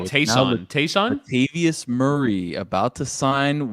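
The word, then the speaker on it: Ty'Son: It's pronounced the way that Stugatz pronounces Taysom Hill's name. Right. Taysom.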